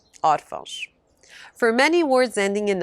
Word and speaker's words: órfão: Words ending in ão, but with a written accent stressing the syllable before the last, usually have the plural ãos. Sótão, sótãos, órfão, órfãos.